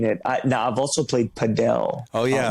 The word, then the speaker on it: padel: In Texas, they pronounce it paddle. In France and Spain and Florida, evidently, they pronounce it padel.